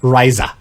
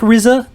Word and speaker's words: Raisa: other mechanics connection is raisa okay not RZA not the rise but Raisa as I pronounced it they've fought two